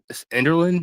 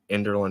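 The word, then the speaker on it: Enderlin: Nathan can kick my ass later for pronouncing it wrong. Enderland. Is that correct? You got it. Ender. Enderland, North Dakota.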